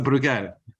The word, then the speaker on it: Bruegel: and founding member of the how do we pronounce this, Nicolas? It's Bruegel? We insist on the spelling. So Bruegel.